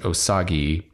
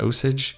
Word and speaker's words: Osage: be an a osage i want i want to pronounce it osagi but i think there's an osage county somewhere that's pronounced osage yeah hopefully the goose